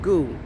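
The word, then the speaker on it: Ngu: And it's pronounced goo.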